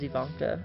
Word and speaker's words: Ivanka: Ian that's how you say her name right Ivanka um so yeah here I was just looking up a good picture to base her face off of yeah it is Ivanka I didn't remember if that was her name